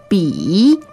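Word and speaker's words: 笔: it is a pen b b okay b i third tone that's the low tone b b okay pen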